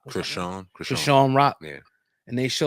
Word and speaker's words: Chrisean Rock: Chrisean Rock. Chrisean Rock.